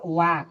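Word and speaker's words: walk: इसी प्रकार WAL के वाक, यहाँ ए क्या है, साइलेंट है।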